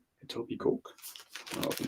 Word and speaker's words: Etobicoke: It's Etobicoke. It's literally a silent K. Etobicoke.